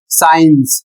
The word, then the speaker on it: science: अगला शब्द है एस सी आई ई एन सी ई जिसका प्रोनाउंसिएशन है साइंस।